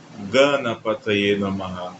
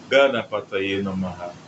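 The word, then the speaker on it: गणपतये नमः: O sânscrito ele tem geralmente ele tem duas formas de pronunciar a mesma vogal, que é uma pronúncia curta, né? breve e longa. No mantra de Ganexa, as vogais A são curtas, né?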